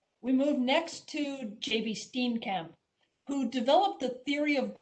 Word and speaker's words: Steenkamp: So it's my distinct honor and pleasure to welcome Jan Benedict Steenkamp, and I'll use the Dutch pronunciation, as a new fellow of AMA.